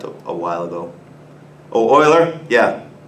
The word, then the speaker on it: Euler: that was typed up a while ago Oh a l'heure yeah it's not a funny name it's a the pronunciation is different from what people usually think a lot of people call it Euler I hear especially biology kids call it that